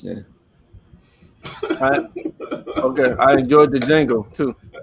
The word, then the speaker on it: Django: Okay, I enjoyed the Django too. It's not. The D is silent.